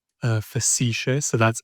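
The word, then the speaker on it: facetiae: How do you spell that first word? You ficisha. Uh facicia.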